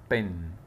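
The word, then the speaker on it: pen: بن بن، ها حاجه يكاد ما بتتنطقش، كاني بقول به نون بس، بن بن بن، كاني بقول البي والان ما فيش، بس ايه كسره خفيفه يعني بن.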